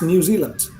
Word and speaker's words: New Zealand: that it's actually you you write it land but you don't pronounce it land you don't pronounce it land it's new zealand okay netherlands nether lands